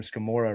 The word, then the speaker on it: Scamurra: And uh we joked a long time ago, Haley, I'm going to bring this one back that your last name Scamurra rhymes with Gamora.